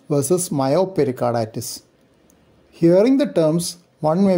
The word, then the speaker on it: Myopericarditis: Myopericarditis. Pericarditis with known or clinically suspected concomitant myocardial involvement. Perimyocarditis. Predominant myocarditis with pericardial involvement. So the stress is on the second part of the name.